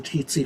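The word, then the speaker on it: tsetse: that diseases in africa were caused by the titsy fly which is spelled t-s-e-t-s-e she apparently ran it through spell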